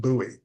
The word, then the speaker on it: Buie: Uh, the last name is pronounced Buoie. Buoie.